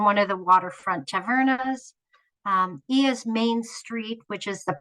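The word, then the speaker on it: Oia: I highly recommend that you visit the town of Ia, which is spelled O-I-A, on Santorini.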